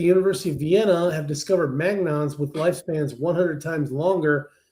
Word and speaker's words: magnon: Mag, is it Am I pronouncing that right? Magnons? Magnons? Magnons, yeah. Uh-huh.